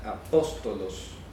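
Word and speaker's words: ἀπόστολος: Se pronuncia apóstolos.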